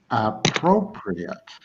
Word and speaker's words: appropriate: Appropriate. Ah, prop, pre, at. Simple as that. Appropriate. Four syllables.